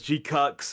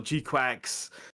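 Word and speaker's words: GQuuuuuuX: in watching uh Gundam G Cooks right which is the only way I can think to pronounce that I've seen other people pronounce it as G cucks or G quack right but the only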